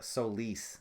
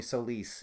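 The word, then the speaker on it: Solís: Oh, and Dave, my uh my baseball encyclopedia, um it's Solis. Sammy Soliss is the correct correct pronunciation of that.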